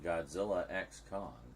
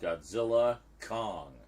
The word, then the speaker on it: Godzilla x Kong: that star whoo says the X in Godzilla X Kong is silent according to Adam wiard director of the film so it's just Godzilla Kong the new Empire got it they are